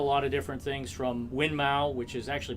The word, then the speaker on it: Winmau: we sell a lot of different things from winmau which is actually pronounced winmore but you know most most Americans we'll kind we'll call it Moon Mau um Target shot Dart so we got all